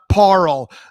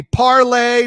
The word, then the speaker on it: Parle: friends tonight's guest is christina parrell that's christina don't you dare call me parlay parl okay uh i successfully